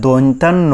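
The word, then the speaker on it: দন্ত্য ন: ভালো করে এটা শিখে নেবেন এরপরে আমরা সঠিক উচ্চারণ আরো শিখবো সেটা হচ্ছে এই যে এইটা এইটার ক্ষেত্রে আমরা বলে থাকি অনেকে দন্তান্য এইভাবে করে বাচ্চাদের শেখান বা নিজেরাও বলে থাকেন আসলে এটা দন্তান্য হবে নাকি দন্তন ন হবে সঠিক উচ্চারণটা হচ্ছে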